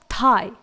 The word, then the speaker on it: thigh: इसके बाद थाई, THIGH, यहां पर भी GH ही साइलेंट है।